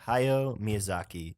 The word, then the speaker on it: Hayao Miyazaki: hi what did we decide how do you pronounce the director's name hi yo miyazaki hayao miyazaki this guy obviously everyone's a